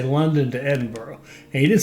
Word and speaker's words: Edinburgh: him say London to Edinburgh he didn't say Edinburgh he didn't say Edinburgh so we'll go to Edinburgh it's not Edinburgh it's Edinburgh okay and by the